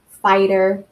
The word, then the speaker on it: fighter: well and then also the gh like in the word highest or fighter or mighty right you don't hear the G um and that makes